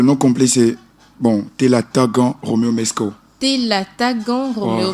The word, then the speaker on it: Mesko: Comment ça se prononce? En fait, le nom complet, c'est Telatagan Roméo Mesco. Telatagan Roméo Mesco.